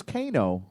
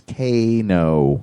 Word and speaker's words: Cano: gets one thank you I thought it was Kano because well I have to give a shout out to Michelle over in uh in Pittsburg because she's the one that corrected me and said it's Kano and I'm like it's Koo cuz we were trying to we were trying to pop up the show and I was like oh Brian Keno from Haunted Collector and she's like it's Kano so it's turn there's